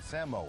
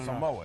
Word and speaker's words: Samoa: American tauna tauna American Samoa s Samoa cuz see us on the states always go Samoa it's Samoa Samoa American Samo American Samoa